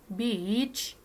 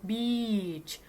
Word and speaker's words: beach: in the summer I usually go to the beach every day don't forget that the word beach ออกเสียงยาวๆนิดนึงนะคะ beach นะไปชายหาดนะคะไปเที่ยวเล่นที่ชายหาดทุกวันเลยจ้านะคะ Okay so next let's move